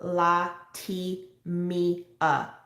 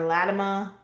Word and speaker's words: Latimia: name is spelled l-a-t-i-m-i-a so la ti me uh so getting virginia or latima or latina from that i just don't get it but you know i